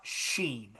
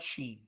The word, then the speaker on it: Shein: So they if you think about Tim, think about Sheen, right? Think about Sheen. Shein for those that are phonetically challenged.